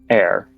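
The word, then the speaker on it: Heir: Signed, with love, Air. Air is spelled H-E-I-R.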